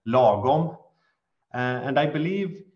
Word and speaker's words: lagom: So I would say, as coming from Sweden, we have one word that is in Swedish, it's pronounced lagom, and I believe it's a word that is